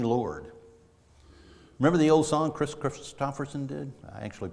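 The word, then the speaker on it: Kris Kristofferson: Remember the old song Chris Christopherson did? I actually pronounced his name correctly.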